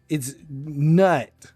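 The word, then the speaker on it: Gnut: His name's Nut with a silent G.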